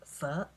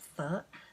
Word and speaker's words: pho: At least that's how my mum pronounced it. I was brought up speaking Chinese, but my parents are Chinese Vietnamese, so they can pronounce it properly. I just pronounce it like if I'm Aussie pronouncing foreign languages.